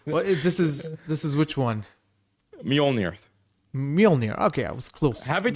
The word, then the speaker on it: Mjolnir: Mjolnir replica. I thought you played the games. How do you say it? Well, this is which one? Mjolnir.